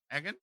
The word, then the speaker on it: Egan: Egggan, right?